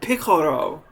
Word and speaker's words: Piccolo: antlers and he said oh picoro you know like he pronounced it way better than i could or even still can piccolo you know right and